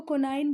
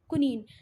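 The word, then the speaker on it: quinine: ठीक है, उसको कुछ लोग आपको कोनाइन बोलते दिखेंगे, पर आपका इसका सही प्रोनाउंसिएशन क्या है? कुनीन। मलेरिया की मेडिसिन बनती है इससे, और इसको अभी हम लोगों ने कोरोना के टाइम में भी थोड़ा सा यूज़ किया है ना। कुनीन, कुछ उसको कोनाइन बोलेंगे, पर एग्जैक्ट जो उसका प्रोनाउंसिएशन है वो है कुनीन।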